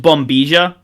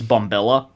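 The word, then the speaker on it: bombilla: a straw it's going to say like it's pronounced bomia but it'll look like it's bombella um and a pack and a packet of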